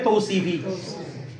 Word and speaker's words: توصيفى: নিয়ে সেটা হচ্ছে মুরাক্কাবে তৌসিফি তৌ এটা উচ্চারণ হবে কি রে সাবার বড় উচ্চারণ ও উচ্চারণ তাহলে তৌসিফি ঠিক আছে মুরাক্কাবে তৌসিফি যদি মুরাক্কাবে